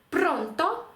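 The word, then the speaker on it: pronto: правило номер один Дивіться якщо у вас слово яке ви зараз читаєте закінчується на голосну або на приголосну е або есе наголос у такому слові ви мусите поставити на передостанній склад тобто другий склад з кінця давайте подивимось наприклад в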